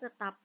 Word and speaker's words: theta: 25 itu lima akar2nya tetap jadi nilai r = 5 akar2nya n berikutnya apabila kalian sampai ditanya besar arah maka nilai arah atau theta kita bacanya ya jadi simbol itu kita bacanya teta itu kita ambil dari